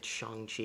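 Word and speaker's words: Shang-Chi: character who is or it's shang chi is how they pronounce it throughout the entire movie oh that's that's that's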